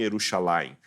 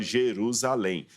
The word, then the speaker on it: Jerusalém: estou adaptando por exemplo a gente não fala que Jesus foi crucificado em yerusalem a gente fala Jerusalém Jerusalém eu não estou traduzindo eu estou aportuguesado o termo hebraico ficou